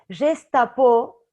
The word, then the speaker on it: Gestapo: Gestapo en francés es absolutamente, se pronuncia exactamente igual que geste à peau, gesto en la piel. Gestapo en francés se pronuncia exactamente igual que gesto en la piel.